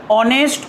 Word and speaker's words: honest: এটা কনসোনেন্ট হলেও এর উচ্চারণ অ হচ্ছে, অনেস্ট, অনারেবল, অনার, যার জন্য তার আগে অ্যান, ভাওয়েলের মতো উচ্চারণ হচ্ছে।